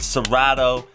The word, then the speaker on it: Serato: that's gonna be with serato studio and the only reason i'm doing this is because serato rhymes with natto that's not true no